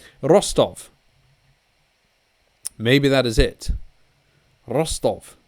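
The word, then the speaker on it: Ростов: say p o p-o-c-t-o-b obviously that is not how it's pronounced i think first of all it's the rostov uh p is an r and the c is an s so rostov rostov maybe that is it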